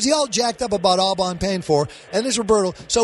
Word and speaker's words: Au Bon Pain: Because I'm saying Pain Pond. What is the name of it? It's actually Au Bon Pain.